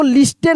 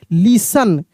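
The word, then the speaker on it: listen: इसको लिस्टेड नहीं पढ़ेंगे। बहुत सारे मेरे प्यारे दोस्त गलती पढ़ते हैं। लिस्टेड नहीं लिसन।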